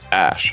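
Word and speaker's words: Æ: that's what came up the AE is pronounced Ash actually and a12 is Archangel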